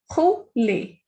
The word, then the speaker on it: rouler: Er sounds a, so rouler. Rouler.